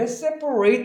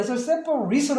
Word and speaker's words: separate: 동사였다면 여기에 separate 하지만 형용사일 때는 얘를 separate로 합니다. 왜냐하면 여기 액센트가 없거든요.